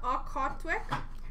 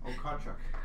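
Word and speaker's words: Okhotiuk: Hutton, Victor Loden, Jaden Habogwax, Dylan Gunther, Nikita Okotwick, John Lizotte. How do you say it? Okotchuk.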